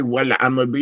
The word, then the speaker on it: والعمل به: Now, when you say wal amal bi, make that the alif lam, the al, make it clear.